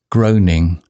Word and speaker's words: groaning: Groaning sounds like groaning. Rhymes with rowing.